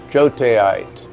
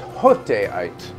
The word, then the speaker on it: joteite: Minerals with names such as jotaite, actually properly pronounced hoteite.